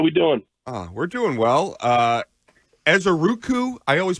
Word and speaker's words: Ezeiruaku: Ezeiruaku, I always pronounce it incorrectly. Can you correct me on that? It would be Donovan Ezeiruaku.